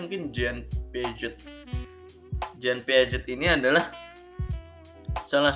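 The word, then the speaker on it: Jean Piaget: mau ngenalin yang namanya Zian Piaget nih Bye bacanya mungkin Jane pijet jayne Piaget ini adalah salah satu ke peneliti-peneliti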